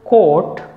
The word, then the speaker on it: court: oh you are T both these words are spoken in the same way port let's practice now